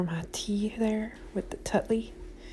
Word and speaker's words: Tetley: tea there with the tutley or tetley or whatever you want to call i used to call it tutley but you know i